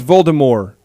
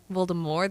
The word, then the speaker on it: Voldemort: it's Voldemort right it's Voldemort Voldemort there's no tea there's no tea it's a it has a French uh um pretty in the book there was a t it's silent cuz it's French based your mom is silent